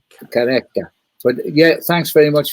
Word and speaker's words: Qhubeka: Well, it's it's it's obviously um it's a Zulu word actually, so it's Qhubeka. Qhubeka? Qhubeka.